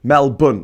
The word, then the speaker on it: Melbourne: because it's like saying Edenberg um no it's pronounced Melbourne as in aor like a hwos bun Mel bun that's what they call it there in the